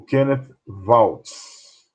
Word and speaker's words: Kenneth Waltz: Esse é o Kenneth, uma pronúncia mais precisa, o Kenneth Waltz.